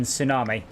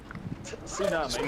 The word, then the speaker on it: tsunami: I usually do pronounce the T in tsunami. I know I shouldn't, but I do. Tsunami. Yeah. Tsunami. No, tsunami. There's not Right, but Tsunami. no, the pronunciation does include pronouncing the T, but it's a TSU.